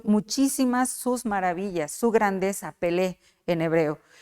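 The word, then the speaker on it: פלא: Es una palabra admirable que en hebreo se escribe Pelé, P-E-L-E, Pelé.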